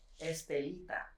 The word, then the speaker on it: Estelita: so so how do you say your name estelita okay there you go you got it that's